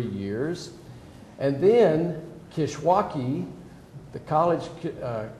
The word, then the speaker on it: Kishwaukee: And then Kishwaukee College, right? Am I pronouncing that right?